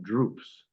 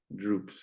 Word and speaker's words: drupes: Uh, if I said to you that I was eating some droops, DRUPES, Droops. droops.